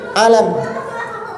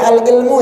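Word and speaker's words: العلم: yang keenam yaitu Al Alam jangan dibasa jangan dibaca alilmu ya nanti bacanya alam alam alam itu apa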